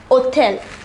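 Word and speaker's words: hôtel: a h mute here the word begins with h which is not a vowel however it is pronounced hotel the hedge here is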